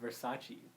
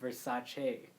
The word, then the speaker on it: Versace: we learned recently actually is that it's not pronounced Versace and I learned that recently no yeah it's pronounced Versace and I saw this in an interview with